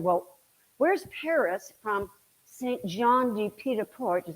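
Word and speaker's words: Saint-Jean-Pied-de-Port: good point he said well where's Paris from Saint John D petaport is how you say it it's 500 miles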